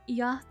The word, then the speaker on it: yacht: No, you forget about the C in it. For some reason, I mean, technically, you're correct. Usually, that's the case, but for some reason, yacht is pronounced like Y.